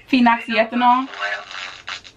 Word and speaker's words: phenoxyethanol: And I made one where I had just used, I cannot pronounce the word. It's like P-H-E-X. Phenoxyethanol?